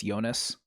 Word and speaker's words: Jonas: Swiss Moroccan, it's spelled like Jonas, but it's Switzerland, so I'm going to say it's Jonas.